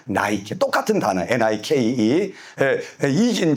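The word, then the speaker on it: Nike: 나이키.이 이 나이키 원래 연게 헬라어로는 니케 돼 있는데 영어식 발음으로는 나이케 똑같은 단어 n이긴 자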